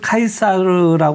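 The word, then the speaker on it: 카이사르: 하고 뭐 정치인이기도 했던 흔히 예전 어른들은 시저 아고 했습니다 또는 사르고도 했는데 지금 국립 국어 연구원 같은 곳에서는 표준 발음으로 율리우스 카이사라 얘기를 하고 있습니다이 카 가 영국을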